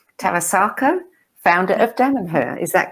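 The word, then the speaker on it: Tarassaco: And I'm never sure how to pronounce his name, but I'll say Tarasako, founder of Damanhur. Is that correct, Shama? Tarasako, Falco Tarasako.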